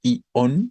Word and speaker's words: ion: identificar ahí es que es un diptongo y al ser un diptongo se conforma como monosílabo No no es I on sino es ion una sola sílaba vale tres me dio